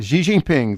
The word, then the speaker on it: Xi Jinping: And I can never pronounce his name. Xi Jinping. Xi Jinping, thank you very much.